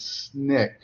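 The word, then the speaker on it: SNCC: I should have put the abbreviation for their name because that's how we uh uh pronounce it. the student non-violent coordinating committee or otherwise known as SNIK and uh Stokeley Carmichael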